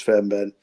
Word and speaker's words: Fairbairn: Unfortunately, that person died, Bruce Fairbairn. How do you pronounce his name?